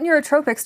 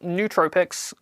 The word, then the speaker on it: nootropic: recommend for tripping what neurotropics do you use and can recommend uh it's pronounced nootropics uh to whoever sent